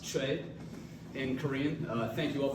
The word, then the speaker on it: Choi: Lieutenant Colonel Choi, or as I learned is pronounced Choi in Korean.